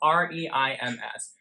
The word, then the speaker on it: Reims: It's spelled R-E-I-M-S.